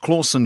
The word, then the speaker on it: Clausen: terrible Batman impersonations at Charlie claussen pronounced Clausen shaped hole and mild